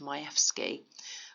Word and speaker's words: Majewski: Director of Public Prosecutions case of Majewski or where I'm told is pronounced Majewski where a defendant had